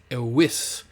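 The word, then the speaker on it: eius: and neuter, and it's ewis. And again, when we got 3 vowels together like this, that I sort of functions as a consonant, and it will be pronounced like a Y sound.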